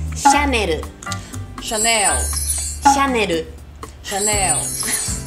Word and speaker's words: Chanel: 个是大家都很爱的。Chanel， Chanel， Chanel， Chanel，不会被拉走。Chanel， Chanel， Chanel。